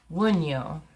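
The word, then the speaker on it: Wunjo: Pronounced Wunyo, representing joy.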